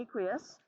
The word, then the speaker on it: aqueous: okay let's take a look at that word aqueous and you can see the pronunciation aqui us okay aqueous and it means are you guys familiar with